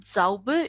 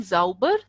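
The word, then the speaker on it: sauber: meaning is change so if you're saying zauber that means clean if you're saying Zhou were then it is mad or angry okay so please remember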